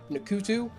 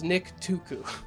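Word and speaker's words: Nktuku: I guess technically a Ntuku. I hate pronouncing that word. I want to say Nkutu, it's Nick Tuku.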